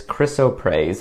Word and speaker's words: Chrysoprase: I'm using the soft flex wire, and this color is Chrysoprase, I believe is how it's pronounced.